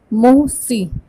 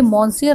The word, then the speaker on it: Monsieur: MONSIEUR इसका pronunciation है मोसी। मोसी क्या है? मोसी इज़ a French word for mister. जिस तरह से हम मिस्टर कहते हैं, श्री और श्रीमान कहते हैं, तो ये मॉन्सियर नहीं है, इसका प्रोनाउंसिएशन है मोसी।